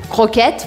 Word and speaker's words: croquette: Croquette, você vai fazer aqui no meio da garganta o som do R.